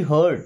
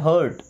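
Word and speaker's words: hurt: एच यू आर टी हर्ट। क्या पढ़ना है? हर्ट।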